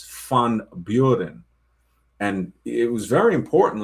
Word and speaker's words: Van Buren: So, somebody named Van Buren, it's not Van Buren, it's Fun Buren.